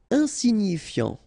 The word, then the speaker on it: Insignifiant: Insignifiant. Okay, final T not pronounced, so you've got this I-A-N, ian, so F before, fiant. Insigni, okay, remember, G-N-I, ni, ni, insignifiant.